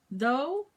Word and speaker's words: though: Though? Yes, dough. No, it's with TH.